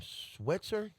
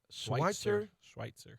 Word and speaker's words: Schweitzer: West, how you pronounce that last name? Schweitzer? Schweitzer. Schweitzer? Yeah.